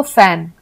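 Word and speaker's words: phone: एच ओ एन ई तो यह भी फ का ही उच्चारण आता है फोन को हम एफ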